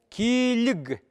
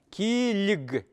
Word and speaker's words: килиг: Килиг. Вот смотрим на это слово. Л произносим мягко, да? Почему? Потому что вчера я так объяснял. Так? Так. Килиг.